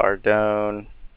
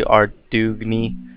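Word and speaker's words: Ardougne: I call it Ardone. The G, I guess, is silent, but it's probably Ardugni, but that just sounds gay, so I go into that teleport.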